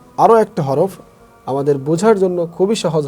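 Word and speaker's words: ح: আমরা যখন এই হা উচ্চারণ করব, কিছুটা গলার মধ্যে চেপে আসবে। হা হা হা হা, ঠিক এরকম আসবে।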